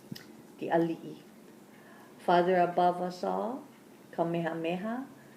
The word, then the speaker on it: ali'i: Guys, how do we pronounce it? The ali'i.